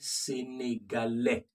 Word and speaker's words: sénégalais: The S is silent. Play that over again and hear the difference.